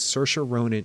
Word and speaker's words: Saoirse Ronan: Greta Gerwig is a force of nature and search or onin is a force of nature there's not one